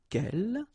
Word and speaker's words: quelle: good news is that if you listen carefully, quelle, quelle, quelle, quelle, okay, so phonetically you get only one form. Of course, when you get this S, well, if you've got a vowel after, then you will have to make this liaison. But then, clearly, the basic form like that, phonetically it's the same, okay?